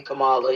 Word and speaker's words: Kamala: It's actually Kamala, yeah. Whatever we doing. Look, I'm like, whatever we doing, however you pronounce it, no disrespect.